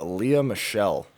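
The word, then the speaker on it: Lea Michele: let ris start with her first topic of leah michelle from glee what i said it right right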